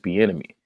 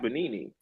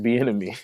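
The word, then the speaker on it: Bieniemy: Eric bonini oh Eric benmy oh that's how you say his name I thought bonini I'm definitely like who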